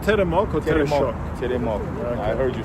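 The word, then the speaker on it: Теремок: Teremok. Okay. I heard you say Tereshok.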